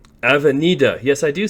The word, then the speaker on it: Avenida: if you saw that there's avienda or do i say it wrong someone told me i keep saying it wrong avenida yes i do say